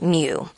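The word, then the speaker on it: μ: It looks like a U, but it's pronounced mu.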